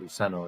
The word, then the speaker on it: Luceno: it differently but uh being a latin background luceno is how it would be said um i'm not saying